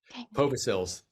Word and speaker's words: Povisils: No, Povisils. The accent's on the Povisils. first. Yep, long O.